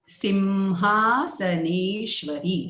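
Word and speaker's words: सिंहासनेश्वरी: Sim is a Rasva. This E is combined with Halanta Sa, so it becomes Simha, Ha is Dirgha, Sa, Ne is Dirgha, Shwa is Rasva, and Ri is Dirgha. So we need to take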